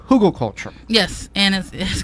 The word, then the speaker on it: Hugelkultur: of the term came from but it's called Google culture yes and it is called Google culture and